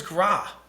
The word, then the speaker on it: Gra: What is Gra?